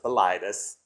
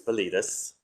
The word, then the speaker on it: Bilitis: Daughters of Bilitis, and that's the correct pronunciation of it. It often is pronounced Bilitis. It's Bilitis.